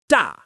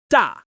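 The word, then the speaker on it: 大: Another word is da meaning big again firm and falling da and try sh meaning up or above high and sharp at the start falling quickly.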